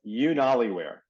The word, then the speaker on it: UnaliWear: So it sounds like YouTube, so it's UnaliWear, but it's spelled UnaliWear, UnaliWear.